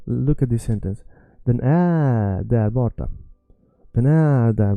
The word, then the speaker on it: är: The word är, let me stretch är. All right. So look at this sentence. Den är där borta.